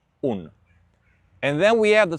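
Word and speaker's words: unë: Remember for I in Albania, you're going to say un the e with two dots, it's always silent when you speak Albanian.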